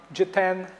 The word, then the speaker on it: Jiten: My name is Jitendra, short Jiten. The best way to pronounce my name is the letter G, number 10.